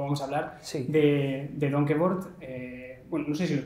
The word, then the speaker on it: Donkervoort: para mí es nuevo, pero sí, se dice Donkervoort, sí.